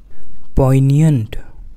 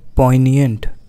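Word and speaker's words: poignant: इसके सिनोनिम्स हैं excruciating, exquisite, fears, कीन, पीकंट, पॉइनियंट, इसमें जी साइलेंट है, पॉइनियंट, एंड लास्ट है पंजेंट।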